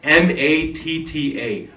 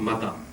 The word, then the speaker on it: matta: So M-A-T-T-A, matta. Right? It's two T's, twice as long, not mata.